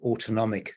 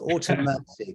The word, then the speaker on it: autonomic: the first time anybody has introduced me and pronounced the word autonomic correctly so that really this really is a record it's been pronounced so many different ways automatic autoimmune um so that that was great um I